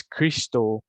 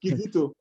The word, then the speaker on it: Kizito: pronouncing it wrongly, is Christo I'm sorry if I'm not pronouncing it correctly, but please You're not pronouncing it correctly. I'm sorry. It's Kizito. Oh, Okay, thank you Kizito.